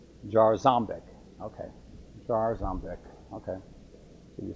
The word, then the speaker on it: Jarząbek: Elias, I would pronounce it like a Polish, Jarząbek. How do you say it? Say it again? Jarząbek.